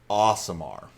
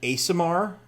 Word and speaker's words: Aasimar: podcast we were talking about so the official pronunciation at least according to 5e tools is awesome are okay I could see that it's two A's sure I've I've done a samar as in like a seer a celestial kind